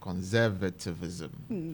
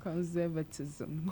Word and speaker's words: conservatism: say the patriarchal society which is associated with conservativism did I pronounce it well conservatism cons conservative just avoid the or being conservative